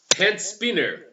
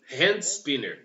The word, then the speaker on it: hand spinner: Tá, toma cuidado com a pronúncia. Spiro, Spin Splend, Spinner Hall. Enfim, o povo não sabe falar o nome, certo? Hand spinner. Ó, repitam comigo. Hand spinner. Esse que é o nome.